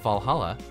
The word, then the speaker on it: VA-11 Hall-A: a 1:1 hull a the name sounds silly and a bit hard to pronounce good thing that's actually called Valhalla the funny numbers and